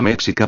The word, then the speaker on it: méxica: autóctona o méxica, pero la palabra méxica pronunciada correctamente como méxica es realmente de origen